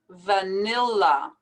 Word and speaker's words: vanilla: vanilla we have to be sure to pronounce these two l's vanilla same thing in this